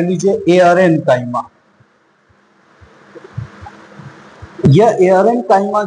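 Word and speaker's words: aerenchyma: यह एआरएनकाइमा जो है वह, जैसा कि नाम से क्लियर हो रहा है, प्रोनाउंसिएशन में एयर आ रहा है, एयर दैट मींस हवा।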